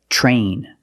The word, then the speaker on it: train: When you have TR together in any situation, you can pronounce it ter, but usually we don't. We pronounce it ch plus the R sound, chur. Example, train, truck, tree, and travel.